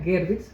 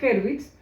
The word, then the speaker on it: Gervitz: para recordar a a Gloria Hervitz o Gerbit, que realmente es la pronunciación correcta, Gerbitz, aunque Gloria Herbitz prefería la pronunciación incorrecta.